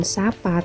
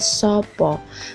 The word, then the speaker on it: sapa: termasuk contoh Sworo jejak jadi membacanya bukan sapa tapi sopo karena mengikuti aksoro jowo